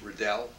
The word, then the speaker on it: Riddell: why we call ourselves Redell know the name in scotland is pronounced riddle that's what you've been